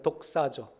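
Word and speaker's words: δοξάζω: 독사조.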